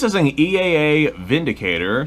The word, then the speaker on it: Windicator: an EA a a Vindicator spelled windicator but because Germany which is where this gun is from Germany pronounces their W's as V's it is pronounced Vindicator versus windicator it's a six shot